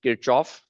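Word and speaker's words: Kirchhoff: you pronounce this name kirov kov I uh I'm from India and so the way we say this name is kof so if you hear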